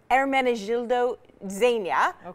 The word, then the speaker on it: Ermenegildo Zegna: Fashion Show and Grand Canal Shoppes ties from Ermenegildo Zegna that's the correct way to pronounce that Art of Shaving and then a